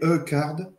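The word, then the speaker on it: HuCard: Il paraît qu'il faut prononcer E-card. Parce que enfin le HU, c'est comme dans Hudson, ça se prononce normalement pareil. Ah, Ah d'accord.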